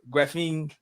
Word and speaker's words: Graphene: Certified nutrition coach and founder of Graphene.